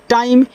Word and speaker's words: time: TIME क्या हो जाएगा, टाइम, क्योंकि यह आपका IME तो ए आई हो गया, बाकी यम को हमने माँ कर दिया, इसका उच्चारण करना नहीं है तो टी लग गया तो टाइम।